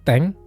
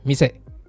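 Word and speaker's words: 店: Jadi teman-teman ingat aja, kalau dia berdiri sendiri dibaca mise, tapi kalau digunakan dengan kanji yang lain, kemungkinan besar bacanya teng.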